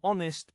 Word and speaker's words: honest: The letter H is silent in some words, so we use an. For example, an hour, an honest person.